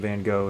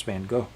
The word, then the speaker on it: Van Gogh: He goes, "No, they pronounce Van Gogh. Van Gogh." Yeah, just I feel a bit pretentious saying that. And I probably still am not pronouncing it right. I am not Dutch.